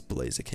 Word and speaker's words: Blaziken: it rhymes i'm not even gonna take the rhymes with it's blazing people it's blaziken yes now you might be screaming right now